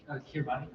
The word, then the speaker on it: Kiribati: Kiribati. Kiribati, or pronounced Kiribati, that's fine.